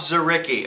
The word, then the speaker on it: Dzuricky: pronounce it zarii zaricki okay it's DZ but the the D is Silent made him